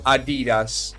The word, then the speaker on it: Adidas: il nostro sponsor ragazzi voi dite adidas o adidas realtà sapete che in inglese si pronuncerebbe a di gas e non adidas